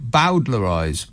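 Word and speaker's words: bowdlerize: says it's with bo pronounced it as in bow wow wow bowdler eyes bowdler eyes well you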